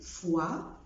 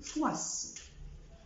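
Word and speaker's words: fois: القاعده العامه بتقول في اللغه الفرنسيه لو جه حرف ساكن في اخر الكلمه في الغالب مش بيتنطق. اكزامبل تو، تو، مش بقول تات، بقول فوا، فوا، مش بقول فواس، بقول ني، ني، مش بقول نيس.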